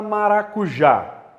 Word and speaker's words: maracujá: A palavra maracujá. Qual que é a sílaba mais forte? É o já, que é a última sílaba.